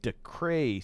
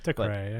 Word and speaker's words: Dacre: It's DACRE. I don't know how you're supposed to pronounce that. DeCray, I think.